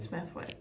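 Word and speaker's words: Smithwick's: Smith smithi smithi Smithwick I would pronounce it Smithwick but I don't think they h w and that's what the guy said we went there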